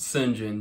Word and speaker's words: St. John: John it's pronounced sin Jane Jane Oh pish-posh anyways we've realized that our